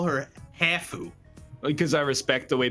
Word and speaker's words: Hafu: Yeah, actually, Ryan, why don't you call her Hafu? Because I respect the way people want things to be pronounced.